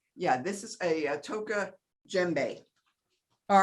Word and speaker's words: djembe: Yeah, this is a Toka djembe. All right. So you don't, it's spelled D-J-E-M-B-E. You don't pronounce the D.